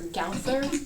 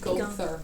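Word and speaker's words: Gowther: How they spelled his name is forever Gouther in my head, but I have to remind myself pronounce it Gother. Go through. Like that's so wrong.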